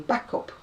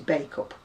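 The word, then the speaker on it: Bacup: you are now reaching back up and it's b-a-c-u-p which is bake up but no she kept saying this is back up and i was just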